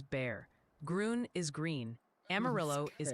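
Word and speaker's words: Bexar: Beexer County is Bear.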